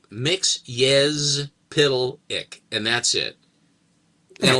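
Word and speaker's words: Mxyzptlk: And then he phonetically he went mix I uh y z uh p i d l e p i c k. Mix pitic.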